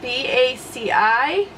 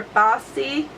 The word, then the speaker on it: Baci: I've been loving the color Baci, and it's spelled B-A-C-I. And I'll go ahead and swatch it over here because I need to remove the rest of the swatches. So that is Baci or Bossy.